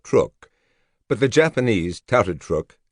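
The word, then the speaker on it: Truk: Mighty Truck. Before the war, hardly anyone had heard of Truck Atal in the Caroline Islands, 1,000 mi west of Quadrilene. Even the name was widely mispronounced, truck rather than Trrook, but the Japanese touted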